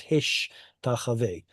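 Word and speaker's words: השתחווה: The point is because Tav and Shin or excuse me, Shin followed by Tav is hard to pronounce, Hebrew switches the two in a phenomenon known as metathesis, and it becomes Hishtachave.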